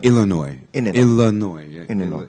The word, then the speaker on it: Illinois: is near the next one isn't it yeah Illinois Illinois the problem is that um the last um uh song is not pronounced I mean no actually it's not yes